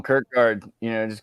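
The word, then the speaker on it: Kierkegaard: and kard uh or it's pronounced kagar I'm not even sure I just read words and I say them call him Kirk guard you know just call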